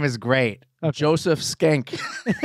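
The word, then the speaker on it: Schenck: that right here his name is great joseph skank it's spelled s-c-h-e-n-c-k oh my gosh is that not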